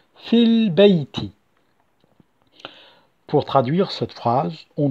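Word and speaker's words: في البيت: Je n'ai pas prononcé fi al-bayti, mais plutôt fil-bayti.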